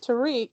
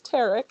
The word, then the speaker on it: Tarik: interesting name tarek skuball a lot of people refer to him as tariq and you have to correct and say actually it's tarik it's the other pronunciation so he he's somebody